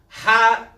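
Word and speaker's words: ح: Ha is pronounced from the throat.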